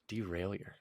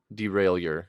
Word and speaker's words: derailleur: be your teacher okay derailleur so well how do you spell it again d-e-r-a-i-l-l-e-u-r okay yeah so it should be derailleur not derailleur yeah derailleur and the stairs are it's French I was gonna say it's